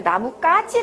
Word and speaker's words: 나뭇가지: 2 나뭇가지 s 옆에 표준 발음 보니까 나뭇가 찌 라고 되어있습니다 나뭇가지 그러면 김말이 첫소리 가물어 술은 하기 때문에 된소리로 나기 때문에 사실 쓴다는 거 아실